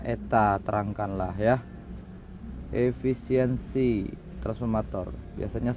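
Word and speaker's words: η: ya lilitan ya baik efisiensi itu dibaca Eta ini bacanya Eta Terangkanlah ya efisiensi transformator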